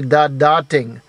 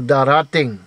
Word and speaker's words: darating: The word for to come is dating. But when you double that first syllable, da, for some reason, it doesn't. You don't say da-da-ting. That you go da-ra-ting, da-ra-ting, da-ra-ting. That da second da becomes a ra, r da-ra-ting.